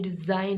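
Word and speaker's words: design: एस आई और एन, हम इससे डी जिन नहीं पढ़ रहे, इसी या डेजी जन नहीं पढ़ रहे। यहाँ जी क्या है साइलेंट है, क्योंकि ये क्या आया एन से पहले आ रहा है।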